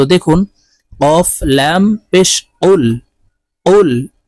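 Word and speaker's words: قُلْ: দেখুন কফ লাম পেশ কুল কুল কফ জিহ্বার গোড়া থেকে উচ্চারণ করতে হবে কুল হামজাহ জবর আইন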